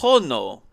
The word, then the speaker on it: horno: Why Oh, you're not supposed to pronounce the H.